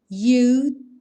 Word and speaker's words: you'd: I guess you'd say. I guess you'd say. Ou seja, esse D quase não aparece.